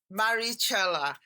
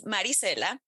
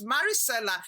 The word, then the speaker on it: Maricela: with us today now I've got with us Maricella and I know I haven't pronounced that properly so I'm going to ask you to please help me out how do you pronounce it of course it's Maricela I like that that's that's not okay yes